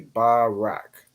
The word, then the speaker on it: Barak: So it's Ba, Ra, and then Ka. The Ra and Ka join to make Rak. So it'd be Barak. Barak.